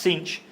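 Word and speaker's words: Sines: called It's pronounced it's spelled signs but it's pronounced cinch in Portuguese it's the only Portuguese word I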